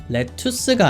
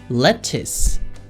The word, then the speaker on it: lettuce: 자, 발음 기호대로 발음을 해보면요, lettuce가 아니라 lettuce, tuce가 아니라 tis가 되죠. 그래서 이 발음 기호를 읽을